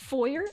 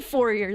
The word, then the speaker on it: foyer: oh it's pronounced foyer I didn't even say forer this time I didn't